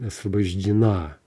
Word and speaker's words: освобождена: Освобождена, right? It's the final syllable that's stressed.